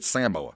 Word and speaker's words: Samoa: Sam Owens and Tong Samoa. That's how they say it.